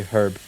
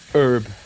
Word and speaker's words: herb: Is it just me or does anybody else hate the way Americans say herb? Herb.